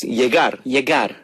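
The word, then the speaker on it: llegar: an L right like if you have a Double L Double L it sounds like a y y oh like for example uh coming means yarar and you spell it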